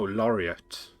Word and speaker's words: Laureate: Oh, Laureate. Yeah, that's how it's pronounced.